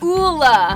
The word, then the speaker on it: Ole: We are here to tell you it's Ula. We get Ole, Ole Henriksen, Ole Henriksen. There's no D.